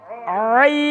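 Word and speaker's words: عين: আর এই অক্ষরটি স্বর আ, দীর্ঘ ই, দন্তান্ন আইন। আইন বাংলায় লিখলে এর চেয়ে বেশি কিছু লেখা যায় না, কিন্তু উচ্চারণটা একটু কণ্ঠনালীর মাঝখান থেকে চাপ দিয়ে এমন একটা চাপ দিয়ে 4 থেকে 6 আলিফ টান, আইন।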